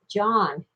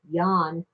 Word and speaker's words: Jan: just a form of John and they even pronounce it either John or Yong but anyway he was